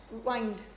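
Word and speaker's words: wind: इसको विंड मत पढ़ना, ठीक हो, इसको विंड नहीं पढ़ोगे। विंड का मतलब हवा होता है और हवा वर्ब नहीं होता, हवा नाउन है, ठीक है।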